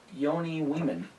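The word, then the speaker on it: Joni Wiman: And I found out, I think I finally understand how to say this one's name. Yoni Weeman. Okay. That's what they were saying on NBC.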